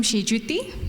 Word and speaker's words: Senjuti: decided to continue making you uncomfortable I am GGT that's the right way of saying my name